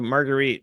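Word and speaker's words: Marguerite: get the name margarite so margarite rhymes with Fleet and that's uh why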